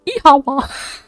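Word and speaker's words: Oíche mhaith: The Irish for good night, when I pronounce it is Ihawa.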